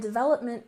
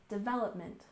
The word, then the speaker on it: development: form of application and development we stress the second syllable in development development so app development is